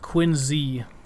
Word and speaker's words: Quincy: It is pronounced Quincy, by the way.